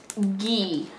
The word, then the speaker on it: ghee: also bought something called ghee g h e e g I don't know how you're supposed to say it makes me want to pronounce the h but I'm pretty sure you're not supposed to um and what this